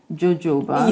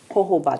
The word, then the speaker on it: jojoba: People pronounce it as jojoba. Yeah. So the J is jojoba. That's how it's pronounced. Yes, it's pronounced also jojoba.